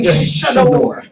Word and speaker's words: Sadior: Did I just say Sadior? Look, check out the other shows through the week, man. Yeah, that's how you say it.